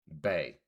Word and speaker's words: BAE: Bay. So instead of saying baby, they just say bay.